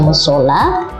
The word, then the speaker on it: musala: Nah, meskipun pengucapannya musola, ya, penulisannya adalah musala.